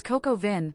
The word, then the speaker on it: coq au vin: "It's coq au vin," I told him, dragging out the words so he could hear the proper pronunciation.